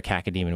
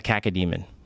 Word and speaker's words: cacodemon: Every time you murder a cacodemon, which is those flying balls, you pull out their eyeball. What is it called? A caca? A cacodemon.